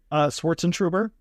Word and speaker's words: Schwartzentruber: Swartzentruber. Okay. No silent letters. It's just how it's spelled. It's just long, so it's intimidating. Exactly. But it's actually really straightforward.